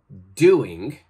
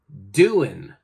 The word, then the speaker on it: doing: All right, so we don't say doing, we say doing, doing.